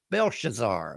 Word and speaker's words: Belshazzar: Belshazar.